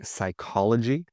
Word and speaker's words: psychology: Silent P. If you speak Greek, you'll know this from words like psychology, psychology, psychiatrist, psychiatrist, pneumonia.